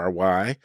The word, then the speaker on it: Loury: My name is Loury, spelled Loury, but pronounced as if it were Lowery.